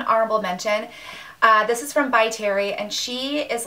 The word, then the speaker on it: By Terry: So this is the By Terry Cover Expert, and I'm pronouncing it correctly because my friend Trisha works with this line and she told me how to pronounce it.